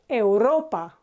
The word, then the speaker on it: Europa: Europe no yes in in English this is you Europe but in Spanish it's not Europa or the currencies not Euro it's Europa okay so again even if